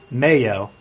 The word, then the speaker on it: mayo: Or, for short, Mayo. Which, by the way, does not rhyme with the word male.